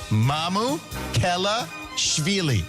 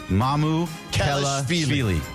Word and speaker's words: Mamukelashvili: agreed to Alex is the easiest way to pronounce it. Mamukelashvili. Mamukelashvili. Mamukelashvili.